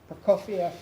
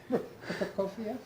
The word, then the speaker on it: Prokofiev: We have Mozart's ballet music from Idomeneo, Prokofiev Second Violin Concerto, Beethoven's Seventh. Ends the evening. You pronounced that second one so beautifully. Can you do it again? Prokofiev?